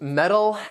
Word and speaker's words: metal: but not moose the next set of homonyms metal and metal so both of these words it's